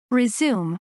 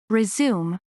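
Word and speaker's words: résumé: 재개하다 아는 의미가 생겨나요 Resume Resume Resume 중단된 작업 활동 등을 다시 시작하다 Resume Resume Resume 중단된 작업 활동 등을 다시 시작하다 같은 스펠링의 단어가 명사로 사용될 때 그 발음과 뜻이 어떻게 되죠 a resum resum a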